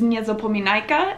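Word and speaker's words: niezapominajka: names for flowers but the way that you would pronounce it in polish is nyezo pominaika and so we are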